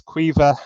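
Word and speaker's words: Caoimhe: Looking at it, if you only spoke English, it is very hard to pronounce. This is Maeve. The one in the middle is Quiva, and then we've got Aveen on the right-hand side.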